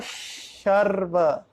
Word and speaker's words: शर्व: There is sarva, then there is a sh, sarva sharva.